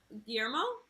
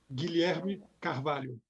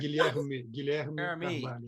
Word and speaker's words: Guilherme Carvalho: Guilherme Carvalho. Oh, there's no Guillermo way. Cavallo. That's just No, not not O at the end. Guilherme Carvalho.